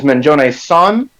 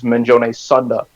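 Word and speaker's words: Manjoume-san: people to use the proper honorific, which is Manjone-san, but it becomes a running joke that a lot of characters mispronounce it as Manjone Sunda.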